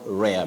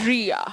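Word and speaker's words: rear: Read not rare. Many people talk of rare but remember r e a r is ri. Ria. Ria. So when we come to the confusing words.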